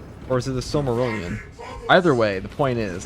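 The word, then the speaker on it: Silmarillion: Which one is it? the Sylmerelion or is it Simmerelion? The Sylmerelion, I mean.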